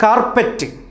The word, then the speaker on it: കാർപ്പിറ്റ്: കൃത്യമായ ഉച്ചാരണം ക്യാപ്റ്റിൻ എന്നാണ് ഉച്ചരിക്കുന്നത്. അടുത്ത വാക്ക് കാർപ്പറ്റ്.